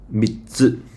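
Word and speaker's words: 三つ: 3つ, okay? 3つ, 3つ. So basically, it's like mi and then stop, then 2. Mi stop 2, 3つ.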